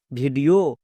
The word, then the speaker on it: video: ই ও sound হয়েছে যেমন ভি আই ডি ই ও ভিডিও ই ও O double